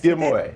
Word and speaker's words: D'Amore: Diamore.